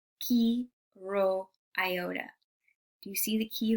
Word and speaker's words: Chi Rho Iota: In Greek, you would pronounce it chi rho iota.